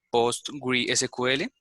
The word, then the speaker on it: PostgreSQL: El PostgreSQL, que es un... Sí, se pronuncia Postgres, sí, Postgres, sí.